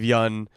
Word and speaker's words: Yeun: O'Brien video where Steve Yeun is telling Conan that he's been pronouncing his name wrong for 4 years before he told him. It was very funny. It's Steve Yeun. I got it now.